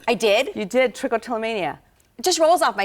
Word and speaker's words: trichotillomania: you said it right I did you did trichotillomania it just rolls off my you did it